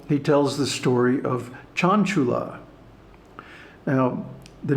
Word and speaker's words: Cañculā: And also Cañculā, with a long A at the end, can mean a teacher.